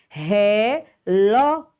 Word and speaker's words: relógio: a sílaba mais forte relógio então ó é a sílaba mais forte deixa eu dar ou